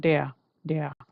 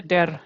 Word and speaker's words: der: So don't say dare. I've told you right. So if you see dare then people will like what the heck you are talking about right so it should be de okay there and then